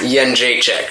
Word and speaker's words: Jędrzejczyk: It's Jędrzejczyk, is how you say it.